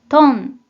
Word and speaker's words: 頓: 먼저 뜻으로는 발음이 없고 음으로만 トン、トン、 이라고 발음해줘요.